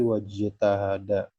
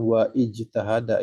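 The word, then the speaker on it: وَاجْتَهَدَ: lagi sebagai kata pertama maka ternyata ijtahada ketika didahuli oleh wau menjadi wajtahada wajtahada Bukan waijtahada Ya bukan waijtah tapi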